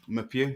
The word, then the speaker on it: Meupiyou: it's Bastian muu I think that's how you pronounce it muu yeah that's correct basan your focus on theame